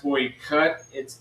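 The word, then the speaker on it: Teuchert: the comments now about how do you actually say Toykert. There's 3 different ones. Flyover noting it. He said Toy-shirt at the pass, Toy-cut. That's technically how you say it in German. It's Toy-cut.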